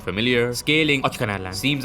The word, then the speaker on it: Natlan: Now Natlan is something, you gotta say it like that by the way.